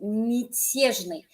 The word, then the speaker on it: мятежный: Real quick, people who are learning Russian, notice I did not say мятежный. Nope, I said мятежный. If a ya is not stressed, it goes to an e sound.